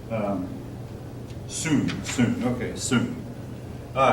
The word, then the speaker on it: Song: tang and the uh um I want to pronounce it song but that's not the way it's pronounced um soon soon okay soon all right again it's not